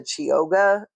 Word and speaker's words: Chioggia: stripe, but I'm pretty sure that they're the Chioggia is how you say it beets.